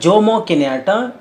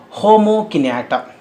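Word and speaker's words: Jomo Kenyatta: You should not pronounce it as Jomo Kinata. It is to be pronounced as Homo Kinata.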